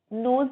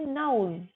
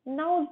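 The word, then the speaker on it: nose: नोज नहीं बोलेंगे, नाउज। न अ उ ज। नाउज bleed.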